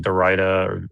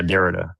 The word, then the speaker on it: Derrida: You were talking about like Dorita or Dorita. I don't know how you say his name. Postmodern. Yeah, Derrida.